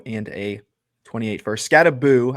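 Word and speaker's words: Skattebo: HN Flowers and a 28 second, or G Willie Scatty Bow and a 28 first. Scattaboo. I've been saying it wrong. Scattaboo, not Bow.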